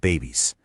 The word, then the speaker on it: Bebis: Yep, pronounced babies.